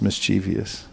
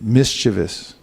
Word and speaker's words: mischievous: buts a mischievous mischievous there is no such thing as mischievous it's a mispronunciation mischievous okay these asuras are